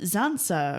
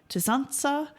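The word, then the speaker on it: tsantsa: a phone message from Ken saying oh, the Zansa are coming. Now they say Zansa, which is a mispronunciation of Tzansa, which is the Jivaroan word for the shrunken head.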